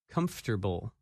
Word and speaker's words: comfortable: That word is uncomfortable, and its opposite, comfortable. When you say this word, you do not pronounce some of the letters that you see in the written word.